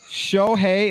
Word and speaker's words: Shohei: Then, as Brother Rich alluded to a few minutes ago here, he blasts Shohei. Am I pronouncing that right?